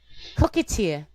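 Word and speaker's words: coquetier: So I looked up and listened to the French pronunciation of cocktail, and it's cockatier.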